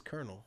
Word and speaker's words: colonel: Young language that I pronounce as everyone always says kernel, right? Yeah, like a colonel.